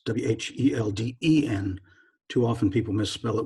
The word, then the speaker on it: Whelden: It's Whelden. Too often people misspell it with O-N, so it's Whelden.